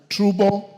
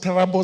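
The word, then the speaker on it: Turbo: Trubo sub-county, it's pronounced Tarabo sub-county, Paul Boyd Boys High School at 8 a.m.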